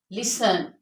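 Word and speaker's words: listen: is silent in those words okay you can pronounce this words लाइक लिसन लिसन फसन फसन इट इज not fast N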